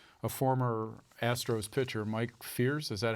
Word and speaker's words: Fiers: Is now writing stuff for The Athletic, and he's reporting that a former Astros pitcher, Mike Fiers, is that how you say it?